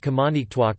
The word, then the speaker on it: Qamaniqtuaq: Thus, the Inuktitut name of the hamlet of Baker Lake is pronounced Kamanitwak or Kamanitawak by most Inuktitut speakers, but is rendered Kamanitwak in Baker Lake itself.